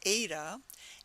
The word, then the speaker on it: Eta: acting like a vowel Ada and Theta so you can say them together and they kind of rhyme and go together so